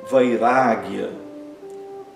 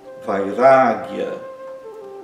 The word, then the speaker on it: Vairagya: E Vairagya, Vairagya, vai, pronunciado normalmente, depois tem um A longo, ra, né, Vairagya, né, que significa desprendimento, indiferença em relação às coisas que nos atraem do mundo externo.